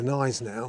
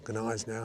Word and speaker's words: Gneisenau: battleships were the Scharnhorst, the Gneisenau, or Gneisenau, how you want to pronounce it, and the Prinz Eugen.